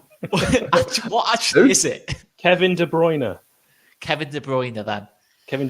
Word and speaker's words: De Bruyne: Kevin De Bruyne.